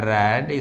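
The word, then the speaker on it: read: रीड का third form होता है रैड, स्पेलिंग वही होगी लेकिन पढ़ते हैं इसको रैड, बाई यू।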